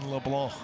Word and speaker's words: Leblanc: ball strike to Tyson Leblanc. For you Mountaineer fans tuning in and hearing that name for the first time, perhaps the C is silent. It's a French cinjun pronunciation. Tyson Leblon.